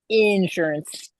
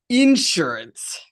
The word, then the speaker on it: insurance: Insurance. Insurance. It's a It's a thing. In Canada, we always say insurance. We put the emphasis on the second syllable.